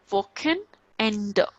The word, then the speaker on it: Wochenende: And if CH is coming after O, that would be k, sureness, woken, just break this word, woken end. Okay, because E is at the end, so we will pronounce as a.